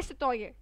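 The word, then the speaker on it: citoyen: Next ले सतोये, ले सतोये, N pronounce कर भी सकते हो नहीं भी कर सकते, योर चॉइस।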